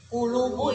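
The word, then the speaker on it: قلوب: Ya, jadi jangan bilang kulu itu mah kaf, nanti artinya jadi beda. Ini makan kulu ya, hati. Kulubu itu hati ya. Jadi dibacanya kof.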